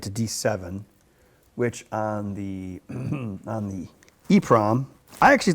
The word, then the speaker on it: EEPROM: So some people say double EEPROM, but I like to say EEPROM and EPROM, just to save time, I guess.